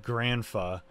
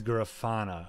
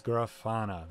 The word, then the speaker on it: Grafana: b without stopping the second thing it's not grandfa it's grafana i get it um so no you can't